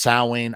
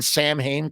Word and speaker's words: Samhain: oh my God no it's pronounced sa obviously don't don't be one of those nerds